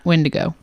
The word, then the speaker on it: Wendigo: Is Wendigo.